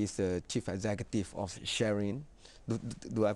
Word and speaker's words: Sharein: um he is the chief executive of sharing do i pronounce it right right yes you are also